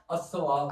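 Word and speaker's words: الثواب: लिहाजा यह हरूफ शमसी में से है। लिहाजा इसमें लाम साइलेंट हो जाएगा। गिरा दिया जाएगा। तो आप क्या पढ़ेंगे? असवाब हां असवाब बिलकुल सही कहा आपने।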